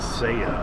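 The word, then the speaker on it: Saia: S A I A how you pronounce that. It is Seiya, apparently.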